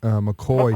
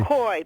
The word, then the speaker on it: McCaughey: to Dr Betsy M McCoy McCoy let me spell it for you yeah please do because it doesn't spell like McCoy does right The Real McCoy yeah MCC a u h y Betsy McCoy and